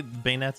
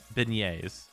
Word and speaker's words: beignets: so sorry how would how do you say bayonets actually again though what is it actually you didn't have to say it again how do you say that word actually again beignets yeah okay oh god this takes me back